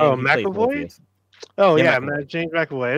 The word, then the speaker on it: McAvoy: Yeah, James Avoy. Is that how you pronounce the name? Oh, McAvoy.